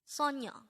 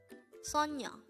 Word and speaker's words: 소녀: This is pronounced as a two-syllable word. The first syllable is so, second syllable is nyo. Pronounce it with me. Sonyo, sonyo, sonyo.